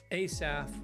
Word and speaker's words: Asaf: So it's a or a, and ASAF, ASAF, ASAF, ASAF is like short A, so ASAF or ASAF.